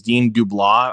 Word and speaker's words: Dean DeBlois: And I loved how, again, this is from the same director of the animated movies, Dean DeBlois. I think that's how you pronounce his name.